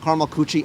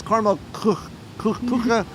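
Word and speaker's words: Karamell-Küche: I keep calling it Caramel Coochie. I know that's not how it's pronounced. It's Caramel Kucha.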